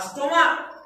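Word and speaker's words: stomach: Monarch রাজা, আর স্টোমাক পাকস্থলী। তাহলে এখানে সিএইচ এর উচ্চারণ ক, মোনার্ক।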